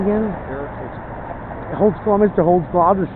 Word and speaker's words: Holdsclaw: Holdsclaw, Mr.